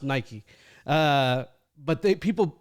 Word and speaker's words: Nike: uh uh Europe was Nike instead of Nike uh I hate to say it it was named here in the United States so it's pronounced Nike uh but they people